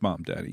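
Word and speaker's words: Mamdani: about this Mom Daddy, that is how you pronounce it, isn't it? Mom Danny. It is Mom Daddy.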